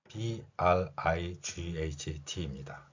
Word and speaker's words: bright: G하고 H는 소리가 나지 않습니다.